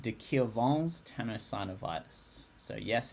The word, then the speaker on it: de Quervain: It's a condition called de Quervain's tenosynovitis. So yes, it's pronounced de Quervain because it's a French name from this Swiss guy, Fritz.